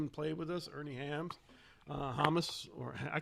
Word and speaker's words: Hammes: think it is stephen how do you pronounce it against thomas thomas hummus among us hummus among us that's at least how it was pronounced on the maynard gig all right thomas very